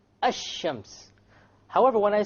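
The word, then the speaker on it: الشمس: where is the lamb silent silent it's not pronounced right ashams however when i say al qamar the arabic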